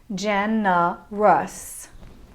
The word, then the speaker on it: generous: of examples let's look at the word generous in the third syllable the o u diphthong makes a a sound genna rus let's look at the